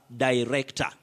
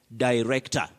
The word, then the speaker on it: director: But you pronounce that word as director. Director. You can also say da. Director or director.